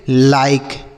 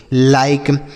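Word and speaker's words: like: ठीक है, इसे बाइके नहीं पढ़ेंगे, एल आई के ई, इसे हम पढ़ेंगे लाइक, एल आई के ई लाइक।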